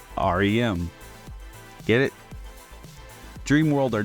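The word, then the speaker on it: Ariem: name is spelled a r i e m pronounced r m get it dream world or not it pretty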